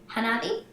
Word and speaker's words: Hanabi: For your number two, Hanabi? Is that how you pronounce it?